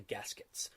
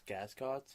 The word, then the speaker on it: gascots: to look for the gaskets, which apparently are in. You're pronouncing that wrong. I think it's gascots. Oh, gascots. Kind of like mascots.